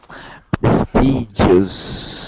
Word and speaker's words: prestigious: Prestigious. Exactly. Good. It's the J sound you were missing before.